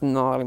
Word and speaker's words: gnarly: got a sign it it's got silent G oh away the getting in the car oh no that's gnarly man good Nami you